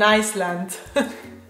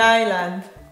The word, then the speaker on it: island: So many people say, I live in an Iceland. So I live on an island.